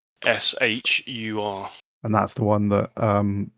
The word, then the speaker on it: Dahshur: Dashur, yeah, Dahshur.